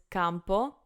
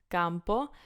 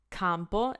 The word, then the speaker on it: campo: video the point is how do we we pronounce it so Campo Campo not compo that's not what we're going for then we